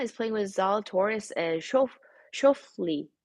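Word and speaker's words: Schauffele: And then there was Kitayama is playing with Zalatoris and Schofli. Schofli. You have to watch out how to pronounce it because there's Scheffler too.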